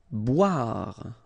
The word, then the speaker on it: boire: Boire. Okay, remember, O-I, wa, wa, wa, wa, bois, boire. Sourire.